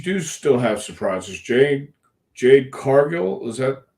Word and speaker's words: Jade Cargill: is is you do still have surprises Jade Jade Cargill is that how you pronounce it yes just just showed up at